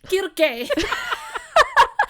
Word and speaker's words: Circe: Sorry, I was just laughing because I was remembering Kirke. Nikki had mentioned that sometimes it's pronounced with the hard K, hard C, and I just tried it and it felt so fun.